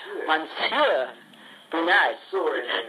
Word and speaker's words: Monsieur Brunard: Well, Monsieur, I'm sure I'm not pronouncing that right. How do you say that? Monsieur Brunard.